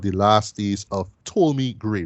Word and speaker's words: Ptolemy: Which is called The Last Days of Ptolemy Gray, right? The P is silent, right?